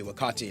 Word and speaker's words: Wakati: I call you wakiti wakati but I'm not saying you should call me wakati I'm saying that's how it's pronounced I'm saying that if